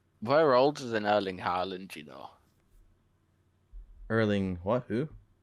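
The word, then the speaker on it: Haaland: yeah yeah no well you're saying Harland like I would pronounce it Howland well that sounds like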